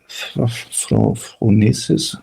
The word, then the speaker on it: phronesis: Phronesis, phronesis. Now I'm getting self-conscious because I know you can pronounce the word better than me.